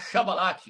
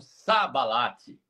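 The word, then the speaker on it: שיבולת: Eles não conseguiam falar shabalate, mas eles falavam sabalate.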